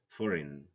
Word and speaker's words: foreign: Sign, design, align, foreign. G is silent here.